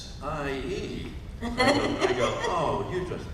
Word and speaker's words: Lisa: And I'll go, okay, how do you say L-I-S-A? Oh no, it's Lyessie.